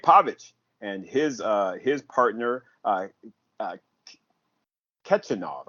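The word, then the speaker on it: Khachanov: Uh, Kichinov, I think is how you pronounce it. Kichinov, Yeah, because it's kind of Kitchenov. like Yeah, Karen Kachanov, but it's Kichinov.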